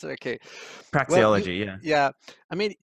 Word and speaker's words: praxeology: Is that how you pronounce it? Okay. Praxeology, well, yeah.